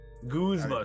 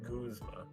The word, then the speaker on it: Guzma: Guzma. Sorry, I pronounced it wrong. It's pronounced Guzma.